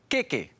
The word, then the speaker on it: keke: In Te Reo Māori, all vowel sounds have two lengths. Trust me, it pays to know the correct length because it affects not only the pronunciation, but also the meaning. Take a look at this example. keke Keke means cake. kēkē But if you see it keke, you'd be talking about an armpit.